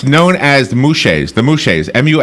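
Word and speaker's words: muxes: oh oh here it is it's known as mu Shay's the mouche is mu X es is pronounced mu Shay's I have a pronunciation guide here ok these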